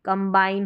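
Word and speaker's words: combine: कॉम ये यहां पर ऐसे तो हम कॉम पढ़ेंगे लेकिन यहां पर कम पढ़ेंगे कम बाइन पढ़ना है तो कम और बाइन कंबाइन हो गया कंबाइन अब इसमें बी साइलेंट नहीं है कि कमा आइन पढ़ दिया कमाइंस उंड आएगा और बी का भी साउंड आएगा दोनों का उच्चारण रहेगा चलिए अब नेक्स्ट रूल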